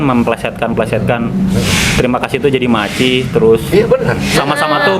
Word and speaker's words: Maicih: Bahasa alay itu kan memplesetkan terima kasih itu jadi maci, terus Iya benar.